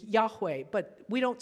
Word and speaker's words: Yahweh: they are not and the name is thought at least one of the pronunciations that we think might have been used is Yahweh but we don't say